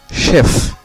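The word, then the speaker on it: chef: তারপরের শব্দটি হলো শেফ, শেফ শব্দের শেষে এফ রয়েছে এবং এফ এখানে উচ্চারিত হচ্ছে, সে আশ এফ, এর উচ্চারণ হলো শেফ।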